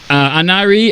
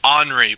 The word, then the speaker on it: Henri: Anari on the line from Coral. Hey, what's up, Anari? Is that how you say it? It's Henri, but it's perfectly fine. I get this all the time.